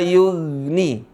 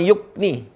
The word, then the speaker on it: yughni: La yughni. Mirip dengan G. La yughni, bukan yukni.